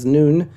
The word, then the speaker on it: Nun: Joshua the son of nun okay so there is a lot in here sermon upon sermon and some people pronounce none noon instead um and so sermon